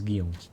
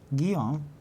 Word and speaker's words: Guillaume: Guillaume in French. Guillaume. Guillaume. Oh, yeah. Guillaume in French. No. It's Guillaume. My brother's. Ed. My cousin's called Guy. William Guido. in French is Guillaume. Guillaume.